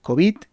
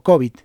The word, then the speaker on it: covid: pues se puede pronunciar covid o covid vale de la manera que cada uno quiera no hay una pronunciación eh una pronunciación específica para esto mayoritariamente es aguda normalmente suele decirse la